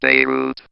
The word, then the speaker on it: Beirut: That's pronounced Beirut, but holy cow, I still remember receiving the news of that explosion, and I just could not have felt better.